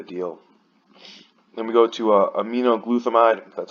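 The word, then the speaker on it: aminoglutethimide: big of a deal then we go to a me no glue thumb ID that's how you pronounce it this is a wrong with his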